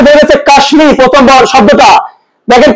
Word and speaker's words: কাশ্মীর: দেখো প্রথম যে বেরিয়েছে কাশ্মীর, প্রথম শব্দটা দেখেন তো, এখানে কাশ্মীর হচ্ছে কি সংস্কৃত ভাষার শব্দ, অথবা কুষ্মাণ্ড সংস্কৃত, তো সংস্কৃত বা তৎসম ভাষার শব্দ যদি মফলা থাকে তার উচ্চারণ বজায় থাকবে, তাই এখানে মটা ময় এসেছে।